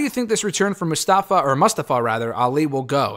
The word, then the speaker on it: Mustafa Ali: I got to get used to saying his name like that. I know he started using that pronunciation, which I think is the accurate pronunciation during the Retribution stuff.